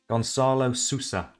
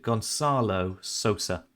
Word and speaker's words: Gonçalo Sousa: Gonçalo Sousa. Gonçalo Sousa. Sosa. It's Sosa. That's how you pronounce it. Gonçalo Sosa.